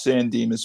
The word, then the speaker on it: San Dimas: San Dimas Mall Lego ideas set it is pronounced San Dimas brunt so well I'm I'm sorry Thank